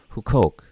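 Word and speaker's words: Huqoq: of the site or goo coke org and who coke is spelled hu q oq I know it looks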